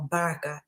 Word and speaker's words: Baraka: Kenyan it's probably because my name is Baraka or Baraka if you really know how to say it anyway I'm about to